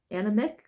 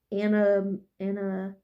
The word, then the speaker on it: Animagus: I think that says Animagus, I don't know how you say it. It's Animagus.